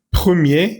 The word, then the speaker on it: premier: La decisión du premier ministre, le premier, recordemos que nunca pronunciamos esas R's finales, premier y no première, premier ministre socialiste Pedro Sánchez, fondé sur des analyses, como fundada sobre los análisis.